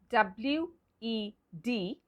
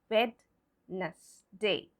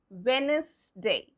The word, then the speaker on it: Wednesday: The D in WEDNESDAY is silent. So if it is silent, that means we are not going to pronounce that particular letter. So how do we pronounce it? We pronounce it Wednesday. Wednesday. The D is not there. It's not Wednesday. It's Wednesday.